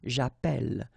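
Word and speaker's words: chapelle: in the previous video, if you have you know double L like that it will affect the pronunciation of the uh so actually it will open the sound and that's the reason why you will get the sound a okay japel japel. All right.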